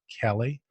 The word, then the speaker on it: Kele: acquiring so our first guest is the CEO kelly richard campbell and some people call Kili but it's actually pronounced Kelly Richard welcome to the show and